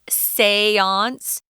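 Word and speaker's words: séance: sisters held a seance it's kind of a weird word it's also french that's how it's pronounced seance i know they still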